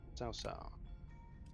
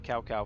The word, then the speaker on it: Cao Cao: Cao Cao.